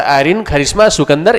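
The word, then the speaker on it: Irene Kharisma Sukandar: ऐसे आयरीन कारिश्मा सिकंदर, इसे इंग्लिश में इसका राइट प्रोनाउंसिएशन जो है आयरीन कारिश्मा सिकंदर ये होगा।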